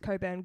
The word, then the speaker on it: Cockburn: um it's actually pronounced coburt no one cares no one cares cockburn is funnier and someone actually stood up for us as well um when like one person commented like it's actually pronounced coburn god like this idiot